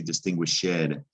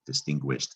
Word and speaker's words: distinguished: in this case now the ed you don't hear it it doesn't say distinguished shed you don't hear the e and e d distinguished actually you don't hear d do you you hear a t it's one of the three rules about adding e d sometimes it makes a